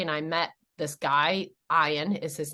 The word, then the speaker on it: Ian: And it's the Scottish pronunciation for ion.